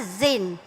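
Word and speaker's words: Zayen: Nak sebut tu Zain ke Zin? Zin. Ha ejaan dia Z A Y E N. Zain. Okey. Penulisnya kata Zin.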